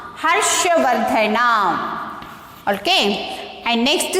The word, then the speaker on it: Harshavardhana: How to pronounce this? Harshavardhana. Harshavardhana.